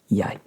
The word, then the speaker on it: jeg: Looks like jeg, but it's jeg. Jeg rhymes with I.